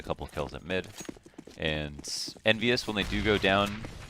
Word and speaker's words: EnVyUs: ENVYUS always rhymes with marvelous, but will this round be marvelous for them?